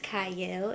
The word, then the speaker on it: Qiayel: welcome to Prime TV I'm your host CA it is or it starts with a CU but it is pronounced CA and today I have a special